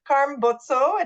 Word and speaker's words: Carm Bozzo: by really one of my favorite people so Karm boto did I say it right you did I